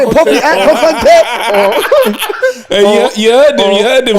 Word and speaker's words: Kokonte: Say it properly, Kukonte!